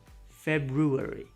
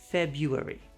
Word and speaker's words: February: Let's put an R in there, but also pretend it's invisible most of the time. Some people actually do pronounce the R. February, but most native speakers just skip it.